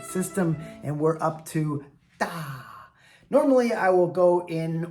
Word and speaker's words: 大: It can sometimes be pronounced dai. For example, daifu is doctor, but that's a mainland Chinese term. We say yisheng here in Taiwan. 99% of the times, this character is pronounced da.